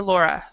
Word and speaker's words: Laura: Laura, is that Laura or Laura?